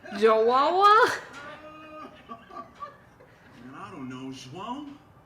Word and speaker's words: João: In Brazil, it is said as João.